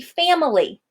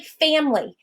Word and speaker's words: family: If I were going to stress that middle syllable, it would be family. We don't walk around saying family in English. We say it very quickly, family.